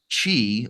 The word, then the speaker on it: Qi: it licensed right now Chi which is spelled Qi of course the chi2 so Qi